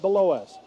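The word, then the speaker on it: Bilous: to belois Braxton belois b i l o u s pronounced below and it's Roa shooting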